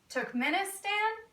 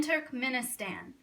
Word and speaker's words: Turkmenistan: like crazy names I'll tell you how to pronounce them Kazakhstan Uzbekistan Turkmenistan Tajikistan and Kyrgyzstan all right I'm gonna need